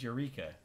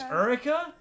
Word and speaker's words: Erica: Blaze says Eureka. Wait, how did you say it? Eureka? Eureka? Really? I said Erica. Erica. Oh my god, it's Erica?